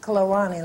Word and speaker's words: Kluane: Another one is Kluane Lake, and it looks like Kluane, but it's pronounced Kluane Lake.